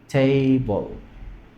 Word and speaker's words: table: no ch B ahora noten que la e efectivamente la tengo que escribir pero no la pronuncio me quedo en la l nada más no y la vocal